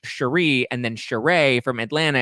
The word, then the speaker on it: Sheree: of uh atlanta and their names are basically spelled the same way but hers is pronounced sheree and then cheray from